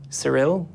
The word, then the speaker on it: Sorrell: Also, pronounce it correctly. God. Surel.